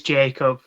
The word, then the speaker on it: Jakob: Jacob or Jacob which do you prefer it's Jacob no it's spelled the French way but I am I